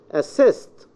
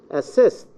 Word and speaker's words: assist: we have for example assist this is a verb the Swiss is in the second syllable assist okay apply apply lie